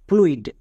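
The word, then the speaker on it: fluid: তার উচ্চারণ করতে হয় না। নেক্সট আরেকটি ওয়ার্ড দেখো। ফ্লুইড।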